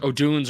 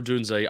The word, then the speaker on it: Odunze: We got to get it's Odunze, right? We got to get that locked down. O'Dunes or Odunze. I'm saying Odunze.